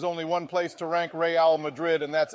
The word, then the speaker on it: Real Madrid: It's pronounced Real Madrid, you dumbass.